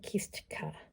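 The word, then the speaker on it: kistka: teardrop shape so we get our kiska which is spelled k-i-s-t-k-a by the way kistika it's a little bit hard for the english-speaking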